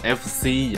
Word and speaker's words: F/CE: 羽绒服，这个牌子呢读作 FCE 啊，中间的这个杠呢是不读出来的。